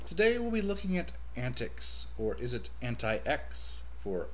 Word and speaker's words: antiX: to you i'll be calling it antics from now on instead of anti-x that's how i've heard it kind of pronounced in some of the